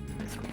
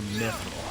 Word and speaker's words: mithril: So do you call it mithril or mithril? I always go with Mithril. Yeah, it's just how it looks. It's also how it's pronounced universally.